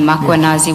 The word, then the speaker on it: Makanazi: Do you see the title of the document draft for MMC iPad Makanazi just as you pronounce his name Makuanazi with the A.